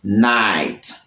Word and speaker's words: night: he h en la palabra night. Ouais, night. Tenemos he h, nous gagnons g h et bien groupe g h ça, yo pas prononcé.